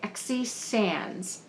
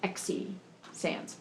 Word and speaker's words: Xe Sands: how you say it it's spelled X e and I would pronounce that Z but I think it's XE Sans anyway um first book